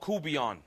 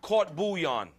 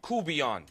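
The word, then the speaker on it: court-bouillon: Now, I'm going to show you this unbelievable dish from Louisiana called Coubillon. Not caught bouillon, as in French cuisine, or that I'm poaching fish in caught bouillon.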